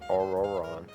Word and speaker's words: aoron: pretty far out there oh it's pronounced or aoron okay that's right so in that case